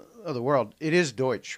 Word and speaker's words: Deutsch: in the world of the world it is Deutsche right you do pronounce it in that absolutely yeah yeah that's